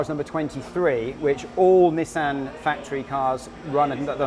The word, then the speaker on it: Nissan: okay why yeah well i'll tell you seb's car is number 23 which all nissan factory cars run at the number 23 traditionally